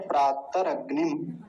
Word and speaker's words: प्रातरग्नि: एक बार उच्चारण समझेंगे सबसे पहला शब्द है प्रात अगनि प्रात गनि प्रात गनि प्रात गनि ऊपर अनुस्वार भी है ध्यान रखेंगे प्राग य थोड़ा अजीब